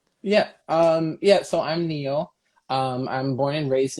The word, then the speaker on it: Neo: no no uh well in english yeah neo like the matrix i don't know if